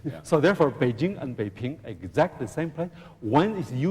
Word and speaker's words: Beiping: So therefore, the words Beiping, P-I-P-I-N-G, Ping, pronounced Ping, the second tone, is used in Taiwan only.